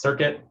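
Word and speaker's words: CIRCT: all love our acronyms it's circuit ir for compilers and tools pronounced circuit this is an lvm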